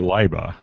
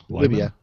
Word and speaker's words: Libya: And one of the writers over there stumbled across this Facebook group based in is it Libya or Liba? Libya. Yeah. Well, if Jake's pronouncing it, it's Liba.